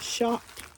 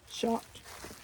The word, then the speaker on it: Schacht: And the makers of this loom is spelled Schacht, and I think it's pronounced Schacht. Schacht. It's German. It's a German name.